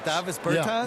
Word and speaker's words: Davis Bertans: Oh, well now, at this point in my life, it's Davis Bertans. Is that how you say his name? Davis Bertans. Davis Bertans?